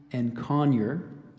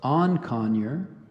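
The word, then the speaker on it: encoignure: some alternate pronunciations here so I gave you and conure there's also on conure and coinier and on conure and coin year e n c o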